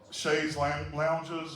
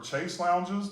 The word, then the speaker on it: chaise lounge: And so when we were there, the woman was trying to sell us on these chaise lounges or chase lounges, depending upon how you say it.